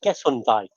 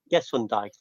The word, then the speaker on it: Gesundheit: They used to say Gesundheit in America when you sneeze. It's German for bless you. Wait, how do you pronounce it? Gesundheit.